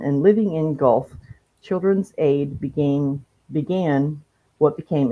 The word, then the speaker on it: Guelph: They lived in Guelph, Guelph, is that how it's pronounced? Guelph? Yes.